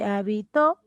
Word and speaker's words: habitó: Y habitó, el acento se ubica en la última sílaba aguda, mira.